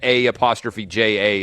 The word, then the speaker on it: A'ja: actually more stunned that a ' J a is pronounced aja then I am by